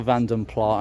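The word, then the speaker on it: Vanden Plas: It is a Vandenpla, I'm going to pronounce it correctly, EFI.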